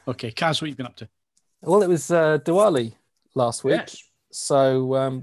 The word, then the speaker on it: Diwali: well it was uh diwali last week so um we had a lot of divali don't don't do it diwali right everyone was pronouncing it as divali on the telly yeah well let's do